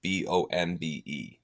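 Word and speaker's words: bombe: because it's british it's spelled b-o-m-b-e because of course it is but pronounced bomb that was able to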